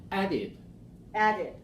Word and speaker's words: added: do we pronounce it how do we pronounce the past tense of AD past yeah the past the or past no of the word add added added okay so added goes in